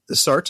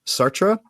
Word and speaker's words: Sartre: So the French teacher at my school says Sartre is fine, but technically it's Sartre, but Sartre with a French accent, which I cannot reproduce.